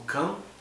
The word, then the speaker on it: Cã: Aí depois, quando Noé, através de seus filhos Sem, Ham, Cã, né, e Jafé, repovoaram a terra, um descendente de Ham, que é pronunciado por nós como Cã, ele acabou cometendo um ato que mostrou que alguma coisa ele tinha trazido de antes do dilúvio.